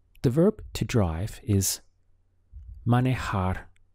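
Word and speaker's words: manejar: verb to drive is manohar looks like a man in a jar money hard just three syllables man a hard how would you say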